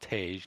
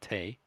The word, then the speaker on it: Tage: I'm told it's pronounced Tage, not Tay.